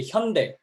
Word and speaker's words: Hyundai: But we say Hyundai. It's totally different.